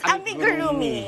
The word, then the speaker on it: amigurumi: Tell us, first of all, tell us how to pronounce it. Kanina, I totally buckled. It's amigurumi.